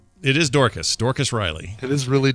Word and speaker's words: Dorcas: the full story though and how is it pronounced it is dorkus Dorcas Riley it is really Dorcas yeah she's she died of Alzheimer's disease it's